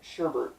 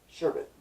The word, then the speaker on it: sherbet: people on it but for some reason it sherbet pronounced with an extra arc making it sherbert but a lot of people and don't really knows when that is so sherbet Viking helmets now you